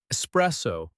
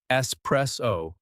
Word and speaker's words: espresso: Espresso. Espresso. There's no X.